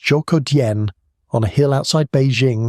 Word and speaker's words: Zhoukoudian: The site is called Zhoukoudian, pronounced Zhoukoudian, on a hill outside Beijing that locals had been calling Dragon Bone Hill for generations.